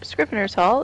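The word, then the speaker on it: Scrivener's Hall: Morrowind Adventure screen rearsal is I totally pronounce mispronounce that it's scriv en scrivener's Haul is one of the two all-new dungeons including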